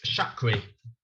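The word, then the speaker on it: Charki: of names anyway um chakri how do you spell that c-h-a-r-k-i oh like chakra but not yeah hi another unique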